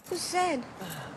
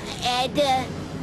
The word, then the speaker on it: Zed: Zed. Zed's dead, baby. Zed's dead. Jak zauważyliście, może już Z tutaj... I don't like you, Ed. It's Zed, you blinking bucket of bolts!